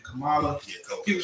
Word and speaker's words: Kamala: Today we'll go into how, Joe Biden and Kamala Harris, how do you say her name? Kamala.